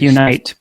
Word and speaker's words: Unyt: Unyt. So, it looks like Unite, but it we pronounce it unit as in units of account.